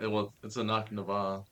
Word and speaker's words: Annac Nevah: It is Annac Nevah. It's backwards for Canna Haven, right? Correct. Yes. Did I do it? So it's a Annac Nevah.